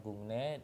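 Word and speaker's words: 국내: Ingat, ini dibacanya gungne deweso ildeng heseyo, nggak ada ya.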